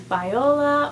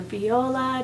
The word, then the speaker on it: Viola: The next name I have is Viola or Viola, depending on how you want to pronounce it.